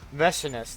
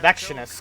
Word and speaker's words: Vestinus: Vestinus, that's how you say her name. Vestinus. 出てこられないんじゃない？ Vestinus. I keep calling her Vexinus because I'm implicating the X in her name.